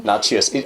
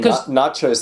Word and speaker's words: Nachios: Nachios. I keep hearing nachos. The Americans say nachos.